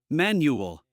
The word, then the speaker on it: manual: In English, it's never stressed with the al. So we would say, final, annual, manual, and again, you see the final sound is very small, very insignificant. So we say final, nu, nu, final, annual, new, manual. Make it very small, very insignificant. The stress is on the other part of the word.